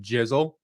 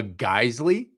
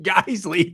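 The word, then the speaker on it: Geissele: He pronounced it jizzle.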